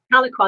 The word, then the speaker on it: Tahlequah: Is that the right pronunciation? Tahlequah? Tahlequah, that's it, Tahlequah.